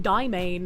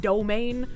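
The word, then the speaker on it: demesne: Well, cuz it's actually pronounced dmain instead of domain.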